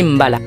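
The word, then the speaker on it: mbalax: style tout particulier retient notre attention le malaxe prononcer Mbala cette musique qui existe depuis le début de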